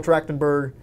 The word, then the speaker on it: Trachtenberg: that from 2005 with michelle trachtenberg that's how you pronounce her name michelle dragonberg yeah okay